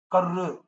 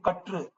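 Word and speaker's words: கற்று: So here you can say how I am pronouncing this ra, katru. I'm not saying karu, karru. So I'm not saying karru. I'm saying katru.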